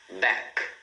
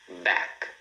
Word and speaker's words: back: Back. Back. Tá vendo? Back para no som do K, né? Esse som do C aqui na garganta.